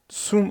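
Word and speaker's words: zum: de değerler deim oluyordu su Plus deim Sum olarak telaffuz ediliyor kısaltılmış bir şekilde Sun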